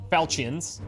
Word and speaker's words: Falchions: Falchions is how you say it.